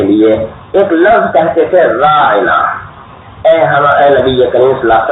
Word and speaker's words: راعنا: سامنے کہا کرتے تھے راعینا، یعنی عین کو ذرا کھینچ دیا کرتے تھے، اور ایسا محسوس ہوتا تھا کہ جیسے عین اور نون کے درمیان یا کا بھی تلفظ کر رہے ہیں۔ اب راعنا کے تو معنی ہے